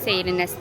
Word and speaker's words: Seyrines: İsmi Seyrines artık nasıl okunuyorsa. Seyrines diye okunuyor.